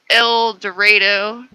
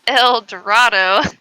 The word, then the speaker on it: El Dorado: We have a town spelled El Dorado. Said El, or sorry, spelled El Dorado. Said El Dorado.